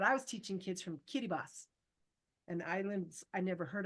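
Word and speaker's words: Kiribati: was teaching kids from Kitty boss an Islands I never heard of but spelled k i r i b a TI but it's pronounced Kitty boss um I wanted to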